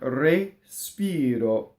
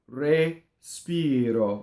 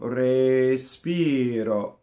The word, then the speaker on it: respiro: When you sing, the S has to completely go on the second note. Respiro, respiro, right? So often you'll hear in singing, respiro, and that's ugly because you have you lose your legato and you have the hissing on the first syllable.